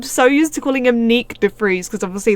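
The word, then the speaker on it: Nyck de Vries: used to calling him Nick def freze because obviously that's the Dutch pronunciation and he's Dutch so I just pronounced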